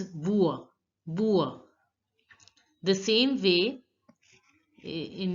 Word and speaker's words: bois: Here the last S is not pronounced. Generally the last letter of the word, as you know, is not pronounced, and OI is pronounced as ua. Ua. So it becomes bua.